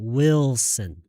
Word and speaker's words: Wilson: 리을을 아예 하지 말고요. 그냥 모음 꺾기로 하세요. 모음 꺾기. 그래서 Wilson.